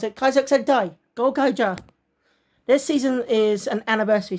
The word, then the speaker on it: Kaizoku Sentai Gokaiger: As they pronounce it, Kaizoku Sentai Gokaiger.